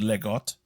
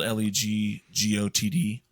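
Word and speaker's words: leg godt: And so he took the Danish phrase, and again, people can correct me if I'm saying it wrong, but legot. It's spelled Legotd. All our Danish followers, feel free to comment. Yeah. So, but yeah, it's legot.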